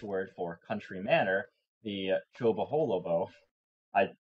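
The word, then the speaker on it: Chobolobo: In 1947, they bought the Laharis, Dutch word for country manor, the Chobaholobo. I pronounced that correctly as well, just letting people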